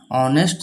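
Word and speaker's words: honest: एच ओ एन इ एस टी ऑनेस्ट ये letter तो है कंसोनेंट लेकिन इसका अगर प्रोनाउंस करें ऑनेस्ट तो ऐसे होता है ऑनेस्ट क्या है?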